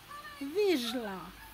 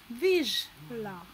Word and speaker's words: Vizsla: So all together, the word sounds Vizsla. Vizsla.